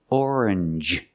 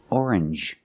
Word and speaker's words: orange: you see NG G it makes the N sound like orange or exchange you make the n Sound not the nasal sound just n and the J like juice J together orange orange or exchange change or exchange you have the same sound NJ this word too challenge